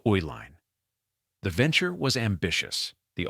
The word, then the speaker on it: Uihlein: In 1919, Joseph Uline senior created a chocolate division, producing candy under the brand name Elene, the phonetic pronunciation of Ooline.